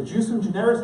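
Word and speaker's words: ejusdem generis: Under a bigger canon, Richard, the jusum generis, how do you pronounce it?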